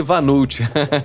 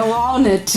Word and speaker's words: walnut: Eu falei Vanult, que gafe, né? A gente fala assim, o vulgo walnut. É walnut, né? Mas é uma pronúncia da língua inglesa e isso é apenas uma curiosidade, né?